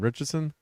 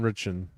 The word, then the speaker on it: Ritchson: Richardson? Alan Ritchson.